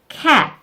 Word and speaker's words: cat: cat. 입을 양쪽으로 벌린 상태에서 라는 무성음 소리를 내시면 됩니다.